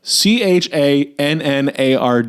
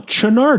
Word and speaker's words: Channard: Again, if you found a piece of paper that said property of the CHANNARD Institute, you'd go Channard. And they're like, Chenard Institute. Yeah. No one would pronounce it Chenard.